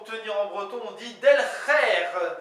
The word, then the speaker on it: delc'her: breton comment dit-on tenir en breton on dit del d e L C apostrophe h e r